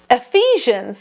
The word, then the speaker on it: Ephesians: Was it Ephesians? Ephesians, yes. Oh, I've been saying it wrong. The people who lived in the city of Ephesus were called Ephesians, like people from Paris are called Parisians.